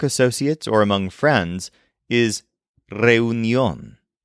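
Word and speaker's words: reunión: or among friends is reunion spelled like the English word reunion but with an accent over the final o reun and like most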